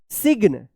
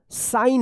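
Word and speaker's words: sign: साइलेंट रहेगा। जैसे यहां पे वर्ड्स में देखिए एस आई जी एन इसको क्या पढ़ेंगे? सिग्न आप पढ़ते होंगे सिग्न या साइग्न पढ़ते होंगे।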